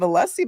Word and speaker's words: Alessi: you go and they you do pronounce the I the end of alessie by the way all right but is